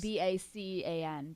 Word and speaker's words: Bacan: it's spelled B-A-C-A-N, Bacan. Bacan.